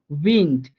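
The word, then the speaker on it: Wind: ডে এর সূত্রে আমরা শিখছিলাম কি ডেটা যদি কোনো শব্দের শেষে যায় তখন ওই ডে এর উচ্চারণটা হালকা ট এর মতো করে হয়ে যাবে। এই জন্য এখানে উইন্ড অর্থাৎ হালকা ট হয়ে গেছে, পুরোপুরি ঢ না বলে হালকা ট বলতেছি, উইন্ড।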